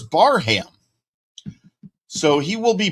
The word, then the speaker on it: Barham: of his last name, I think we've all been saying Barham. We found out on Friday that he prefers Barham. So he will be Barham from this point forward as long as I can remember that.